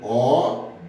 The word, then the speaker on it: obter: Eu escrevo O-B-T-E-R. Mas na hora que eu vou colocar, na hora que eu vou pronunciar, eu pronuncio como obter, como se tivesse um BI, né?